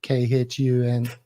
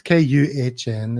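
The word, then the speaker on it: Kühn: I had a big fight on Twitter with somebody calling him KHUN. It's KUHN, isn't it?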